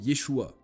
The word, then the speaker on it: Yeshua: nom du Fils de Dieu s'écrivait et se prononcer Yeshua mais dès 1684 le nom du Fils de